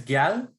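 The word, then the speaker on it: gyal: Yeah, I think it's Gal. Yeah. Yes. One syllable. I would say Gala. Yeah. You say it in one breath is how I try to remember it.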